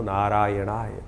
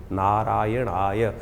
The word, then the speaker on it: नारायणाय: बिल्कुल सही होना चाहिए कई बार लोग मंत्र का जप करते करते थोड़ी सी गलती कर देते हैं नारायणाय नारायणाय नारायण नारायणाय नारायण नाराय नहीं है नारायणाय ओम नमो नारायणाय इस